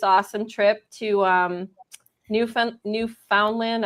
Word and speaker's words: Newfoundland: trip to um New New Foundland. I don't know if that's how you say it. New Funland or Newfoundland. New Finland.